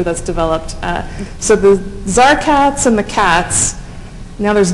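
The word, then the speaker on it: CTAZ: It's being named CATS, which is spelled C-T-A-Z, which is the Creative Technologies Association, but with a Z at the end.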